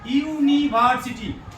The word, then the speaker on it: university: দেখো ওয়ার্ডটির প্রথম উচ্চারণ কিন্তু ইউ, এই উচ্চারণটা প্রথমে কি আসছে ইউ। দেখো ইউ আসছে না, ইউনিভার্সিটি। তাহলে ভাওয়েল দিয়ে শুরু হবে এবং উচ্চারণটা হবে ইউ এর মতো বা ওয়া। এখানে কিন্তু ইউ এর মতো উচ্চারিত হয়েছে ইউনিভার্সিটি।